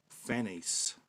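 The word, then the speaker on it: Phanes: the God of love also known as Fanny's I think is how you pronounce his name PHA in es this Orphic egg is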